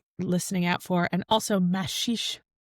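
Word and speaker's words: Maxixe: I mean, like talking about Mashish, which until this week I didn't know is how you pronounced it, is sort of a waste of time actually.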